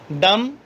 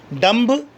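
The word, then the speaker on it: dumb: Lamb, डम, थम, टूम। कभी भी ऐसे मत बोलिएगा लैम्ब, डम्ब, थम्ब, टोम्ब, ऐसे नहीं होता।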